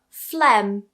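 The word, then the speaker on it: phlegm: For example, flem.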